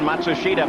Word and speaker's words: Matsushita: Emerson faldi comes around Matsushita by the way that's the pronunciation that now hero himself has asked all the announcers to use we know it's not the same pronunciation that the family uses or he uses in Japan but it's what he wants let's go to Gary